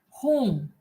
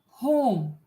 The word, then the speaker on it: home: For example, home, home. So HOM is also home, HOME is also home. So the E is silent here.